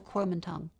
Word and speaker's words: Kuomintang: Guomindang or Kuomintang? They're both correct.